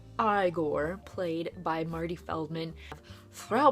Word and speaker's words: Igor: you have I or it's not Igor it's pronounced I gore played by marty Feldman